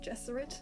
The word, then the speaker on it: Gesserit: gesserate and the mentats i'm aware people pronounce it jesuit i don't care i like gesserit bite me we've talked